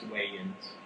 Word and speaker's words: Wayans: Wayans. It's Wayans.